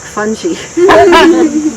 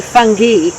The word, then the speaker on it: fungi: they're gonna say fungi the i it depends upon whether you want to give it a um american english or these terms are latin and greek so the i in latin is pronounced e yeah all right so and